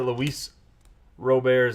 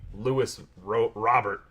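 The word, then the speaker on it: Luis Robert: here right at least I know that Luis robare's name is Luis robare and not Louis Louis Robert we got Mora Bell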